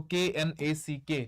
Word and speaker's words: knack: This K is silent. So K N A C K neck similar of these four bruise ability Keep sex.